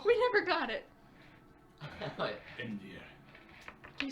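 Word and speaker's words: Einvere: No, is it just spelled like Envier, like literally the word envy?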